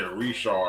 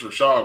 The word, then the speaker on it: Ri'chard: Yeah, but you saying it wrong, though. Say again? You saying it wrong, though. Okay, well, say it right. My bad. I can't. I know he can say it, but you saying Ri'chard. I don't think it's Ri'chard. Is it Ri'chard? No, it's Rashad, but you got to put that. Oh, man, we talking about syllables. That shit make a difference.